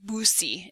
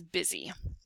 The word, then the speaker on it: busy: Has a vowel, consonant, vowel combination, but does not make a long U sound. It is not boosy, it is busy.